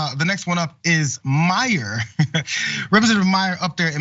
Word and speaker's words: Meijer: against one of the 10 impeachers, a guy who spells his name M-E-I-J-E-R, but they pronounce it Meyer.